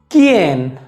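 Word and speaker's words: quién: अगला नियम ये कहता है कि अगर कू और ऊ साथ में है तो यहाँ पर ऊ का उच्चारण नहीं होगा।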